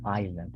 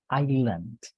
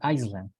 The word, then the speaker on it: island: the pronunciation here is Island okay Island novice even though we have an S here we don't pronounce it because if we pronounce it it would be Iceland which is the country